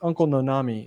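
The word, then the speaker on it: Uncle Noname: he went on to make uncle no-name cookies uncle nonami is how he pronounced it because the company bought his brand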